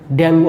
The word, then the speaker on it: डेंगू: है, डेंगू fever में, उच्चारण डेंगू ही होता है, तो डेंगू फीवर में